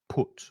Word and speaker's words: put: The U is pronounced U, put.